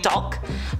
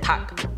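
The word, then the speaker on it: 닭: spelled out in Korean, it's D-A-L-K. It's like dulk, but you just pronounce it tuck without the L.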